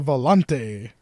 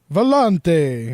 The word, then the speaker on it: Volante: You gotta say it like Alex Trebek is saying it whenever he does his accents. Volante. It's like, dude, you don't have to say it like you are Italian.